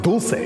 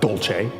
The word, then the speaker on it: dulce: ice cream and besides dulce de leche is spanish not italian and it's pronounced dulce not dolce it plays the montezuma